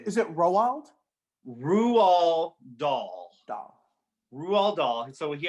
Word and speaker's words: Roald Dahl: I had to literally look up the pronunciation of this guy's name. His name is it Roald Roald Dahl.